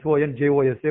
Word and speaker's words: San Jose: place called San Jose, Sonjose, but you spell it San Jose.